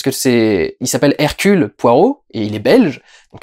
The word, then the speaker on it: Poirot: prononciation anglaise parce que c'est il s'appelle hercule poirot et il est belge donc ça se prononce les reculs et les anglais disent caractérise